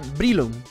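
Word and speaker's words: Breloom: son muy distintos pero si lo pronunciamos en inglés como debería se dira brilum vale Quiero aprender el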